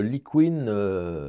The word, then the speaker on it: Liquin: j'utilise assez souvent c'est le Liquin le Liquin ou Liquin les Anglais disent Liquin bon ça s'écrit l i Q u i n de Winsor Newton alors